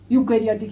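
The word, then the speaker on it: eukaryotic: अब इनको एक अंतर और आप देखिए, यूकैरियोटिक यानी कि यू होता तो ई है स्पेलिंग, लेकिन आप यू कह लीजिए, वाई कह लीजिए, वाई।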